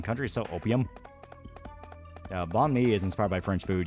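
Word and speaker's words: bánh mì: Yeah, it's pronounced May. So banh mi. Or May. Yeah, banh mi, yeah.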